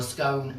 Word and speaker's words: scone: The nearest thing in England to sort of get this to you is a scone. Or a scone, however you want to pronounce it.